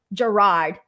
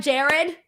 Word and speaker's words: Gerard: It's pronounced Gerard. Jarrod? Gerard? Oh my God, it's not Jared. I think I'm saying Jared with an E, right? But you're Gerard with an O.